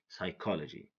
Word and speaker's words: psychology: n G is silent psychology don't say P psychology say psychology receipt don't say recept okay pneumonia don't say poo pneumonia it's pneumonia okay P is silent because it goes before s n RT number seven